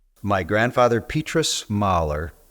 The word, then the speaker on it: Mullye: My grandfather, Petrus Mahler, which is how Mulley is pronounced in Flemish, was born in 1885 in Roseslare, Belgium.